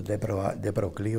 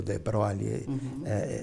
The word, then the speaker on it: de Broglie: Interessante, tem toda uma história aí a respeito do de Broglie, ou de Broglie, varia um pouquinho essas pronúncias aí.